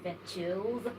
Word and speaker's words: Vechillz: Okay, Vetchils. Did I pronounce it very well? Yeah, Vechils is the name.